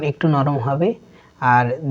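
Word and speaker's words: ح: জিম, জিম, সার উচ্চারণ একটু নরম হবে আর জিমের উচ্চারণ একটু শক্ত হবে। হা, হা, আমাদেরকে খেয়াল রাখতে হবে, হা উচ্চারণ করতে হলে একটু মুখ থেকে বাতাস বের হবে।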